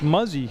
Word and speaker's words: Muzzy: It's Muzzy, and I checked with the pronunciation. It is Muzzy, number 5, Shirley Muzzy for Mill River.